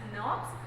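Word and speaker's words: snRNP: They actually bind to a specific protein to form a small nuclear riboucle protein particles which are pronounced as nerves.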